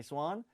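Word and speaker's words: Zuan: How do you say that, Christy? Zan? Schwan? Z-U-A-N? Is that right? Okay, Swan. All right, Swan.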